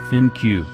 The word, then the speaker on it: ThinQ: The V35 ThinQ, pronounced ThinQ, is LG's third variant of its V30, in addition to the original V30 phone from 2017 and the V30s ThinQ from February.